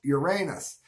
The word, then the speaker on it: Uranus: the tourist town of Uranus which is pronounced the way any self-respecting class clown would say it so so much for the Uranus Examiner Uranus it's along route 66